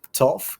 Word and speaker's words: tough: Ensuite, on n'en a qu'un seul qui se prononce avec le son T, tough, qui va être dur.